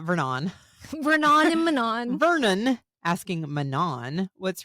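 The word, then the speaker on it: Manon: had to be like it's pronounced Manan and I said roses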